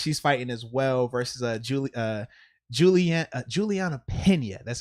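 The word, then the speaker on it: Julianna Peña: And then Amanda Nunes, she's fighting as well versus Juliana Pena.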